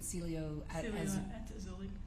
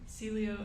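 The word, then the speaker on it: Cielo: the Celia how do you say it again Celio say it one more time Celio at auli okay was that the name of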